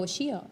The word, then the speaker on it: Xio: Well, it can be Zio or Shio. Yeah, oh, It Shio. depends. Yeah, we say Shio.